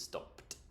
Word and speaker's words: stopped: You will remember from our previous video on the pronunciation of ED that it is not stopped, it is stopped. Should we have a t sound? Because it's got a P before, stopped.